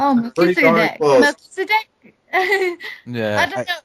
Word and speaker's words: Melchizedek: Melchizedek. Yeah. Did I finally get his name right? Correct? Oh, Melchizedek.